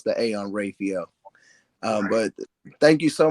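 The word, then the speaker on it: Raphael: rayel I pronounce the A on Rafel um but thank you so much and um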